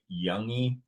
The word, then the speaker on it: Youngy: I mean, the G is usually, it's like Youngy. Youngy. Sort of like, yeah, I get a lot of American people love to pronounce the G, but it's not. So it's kind of like a sort of just slides off.